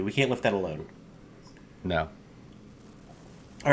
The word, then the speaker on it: Noita: of which how because I would pronounce this NOA so how did you pronounce it I pronounce it NOA just like you did it is no it is NOA correct it's finish for witch okay and all of